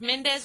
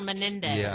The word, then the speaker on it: Menendez: worse well Senator men yeah it's like Mendes or Menendez like it's got that extra syllable ex and I